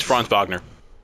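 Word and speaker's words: Franz Wagner: number nine I have fron wag Vagner however you want to pronounce it yeah I have fron it's fron vogner yep I have fron he is pretty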